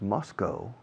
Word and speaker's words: Moscow: The capital of Russia is Moscow, o también se pronuncia Moscow. Los americanos solemos decir Moscow. Los británicos creo que dicen Moscow, más que Moscow.